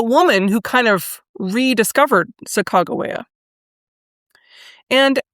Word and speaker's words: Sacagawea: public legend of either Sacagawea or Sacagawea? The common pronunciation is Sacagawea, but Sacagawea is the way that I have heard it most recently pronounced by a native speaker.